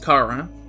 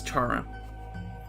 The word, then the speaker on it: Chara: So last stream, I pronounced it Kara, and I said it's compromised to stream I would pronounce it as Chara. So I'll keep up my word.